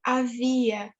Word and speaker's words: havia: After vazia é havia. Havia. Same thing. Havia e movia. É. Yeah, so same thing. So the I gets the emphasis.